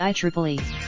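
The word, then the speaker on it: IEEE: had no comment on an announcement by the I Triple E pronounced diamonds the I Triple E which stands for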